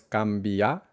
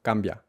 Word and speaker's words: cambia: O como digo la brevedad, cambia, cambia, cambia, porque ojo, esta palabra solo tiene dos sílabas, cambia, cambia. No es cambia, sino cambia, cambia.